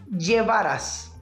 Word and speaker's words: llevarás: Já a pronúncia da letra V, ou como falamos em espanhol, da letra V, né? Vai ser uma espécie de junção da letra B com a letra V, só que um pouquinho mais puxado o som pro B. Então a pronúncia correta dessa palavra como um todo é llevarás.